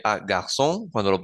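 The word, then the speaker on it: garçons: formar el plural pero esa s no se pronuncia De hecho no va a cambiar el sonido de la palabra en la mayoría hay unos casos particulares entonces garson garson suena igual cómo sé yo si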